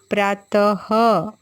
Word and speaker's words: प्रातः: आप मेरे साथ दोहराओगे प्रातः जब हम यह की मात्रा लगाते हैं बच्चों तो उसका उच्चारण ह की तरह होता है प्रातः 6 नमः स्वतह